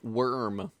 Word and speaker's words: wyrm: That's a pretty good card, That's- even if he did mispronounce the word worm. Wyrm? Worm. Worm? Worm.